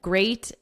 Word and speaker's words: great: Watch out for meet and great and threat. So remember, we're focusing on vocabulary. I don't think there's anything we need to discuss for vocabulary. They rhyme with sweet and straight and debt.